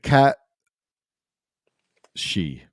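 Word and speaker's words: cat sìth: But so this is what I wanted to bring up when Ben was here, is the cat she, the legendary tales of the cat she, or Sith, or Sith, but pronounced like she or she.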